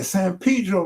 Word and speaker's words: San Pedro: LA is the only place that pronounces San Pedro. Yeah, San Pedro, not Pedro. Like, this ain't Pedro Guerrero. This is San Pedro, like, nigga.